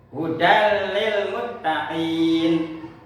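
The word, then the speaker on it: هدى للمتقين: Adapun contoh-contoh idgham bila guna yaitu hudal lil muttaqin, hudal lil muttaqin. Ya, itu di situ ada fathah tanwin bertemu dengan huruf lam. Hudal lil muttaqin.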